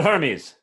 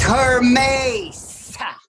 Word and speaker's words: Hermes: Send for my messenger god Hermes. It's pronounced Hermes.